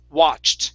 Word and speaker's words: watched: a word okay um this word instead of watched okay it's watched with the T at the end watched watched okay very